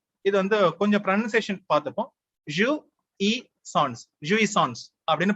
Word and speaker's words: jouissance: ஜூஇசான்ஸ் அப்படின்னு ப்ரொனவுன்ஸ் பண்றாங்க.